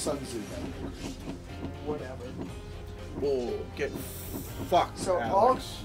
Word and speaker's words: Sun Tzu: I'll play a Shun Tzu. No. I like how 0-0-0-92. Yeah. Mr. Backscratcher of Death. Speed is the only thing that matters in this game. If I remember correctly, it's pronounced Sun Tzu.